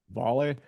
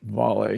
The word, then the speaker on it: Vale: Um, I actually think it's pronounced volley.